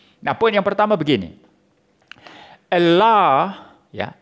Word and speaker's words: Allah: Allah, ya, Allah is the way the word HHLA spelled from right to left as it is Aramaic is pronounced.